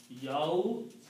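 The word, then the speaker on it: يوم الدين: In Arabic it will be pronounced Yawmuddin. You do not pronounce the alif here. Yawmuddini is the correct word.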